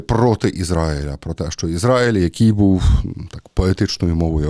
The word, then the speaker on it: Ізраїль: ставляться наголоси і так в слові Ізраїль має стояти наголос на А так само як в слові каталог на О а не на А коли є Отакі речі